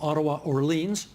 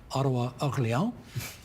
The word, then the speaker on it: Orléans: We're also expecting from Ottawa-Orleans, or depending on how you say it, Ottawa-Orléans, a 14th Liberal seat, because they'll surely hold that one there.